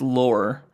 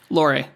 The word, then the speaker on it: Lore: called I think it's it's not pronounced lore Laury Laury yeah it's a movie